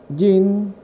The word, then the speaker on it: Jan: the plot and gene her name Jean or so Jean like John and also well you